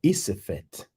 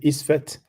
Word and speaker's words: Isfet: It's been a real era of chaos, which in Medunetia is called Isefet. Some pronounce it Isfet.